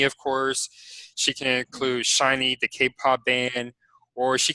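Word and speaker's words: SHINee: So let's say that Dia also had a page on, is it pronounced Shiny? Shiny.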